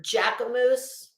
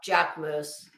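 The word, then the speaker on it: Jacquemus: up Bad Bunny wearing Jack moose um or giacomoose wait no Jack moose Jack moose spelled j-a-c q-u-e-u-m-s my God I actually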